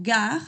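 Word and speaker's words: gare: Por ejemplo, al final de las frases con lo que ya habíamos dicho como gag. Gag significa estación grande, como una estación de trenes y no se pronuncia esa e al final.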